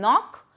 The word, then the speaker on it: knock: Some words have initial consonants which are not pronounced, like H in honest, W in wrap, K in knock.